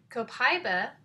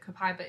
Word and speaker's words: copaiba: that I have from Young Living is copaiba copaiba has a couple of different ways you can pronounce it but that's how i'm going to